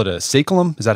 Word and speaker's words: saeculum: to 100 years, and you call it a saeculum? Is that how you pronounce it? Yeah, saeculum.